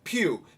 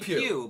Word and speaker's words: Pugh: And let's She's just say been- her name, the actress, is Florence Pugh. P-U-G-H. She's very good. What's yeah. her name again? Florence Oh, Pugh.